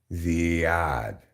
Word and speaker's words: Ziad: Like, oh, the I is pronounced as an E. Ziad.